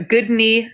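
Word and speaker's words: Guðni: on your leg perfect how would you say that in iceland it with with the accent um with the accent you would say guys which took me months and months to learn okay i guess for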